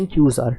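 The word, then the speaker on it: n choose r: इसको प्रोनाउंस करते हैं NQR।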